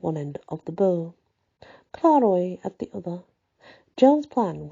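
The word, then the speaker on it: Clairoix: Another was camped at Claroix, a couple of miles above the raised road. It's actually pronounced Claroix, but it does have an X on the end, but the X is silent.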